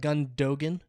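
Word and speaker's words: Gündoğan: so he he uh his name has an umlaut and then it's spelled like gun Dogan okay okay gundogan is how uh Americans would say it or if you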